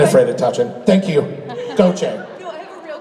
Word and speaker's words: Gautheir: It's Gautheir. So you would say, it's kind of like Gochay, Gautheir. And my voice is gone, but I can assure you it's not coronavirus, okay?